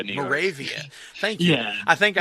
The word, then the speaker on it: Moravia: Yeah, it's actually pronounced Moravia, New York. Moravia. Thank you. Yeah. I think I actually said Monrovia at one time.